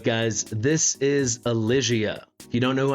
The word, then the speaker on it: Elysia: before we get into it yes it is pronounced Alia I looked it up Alia something else we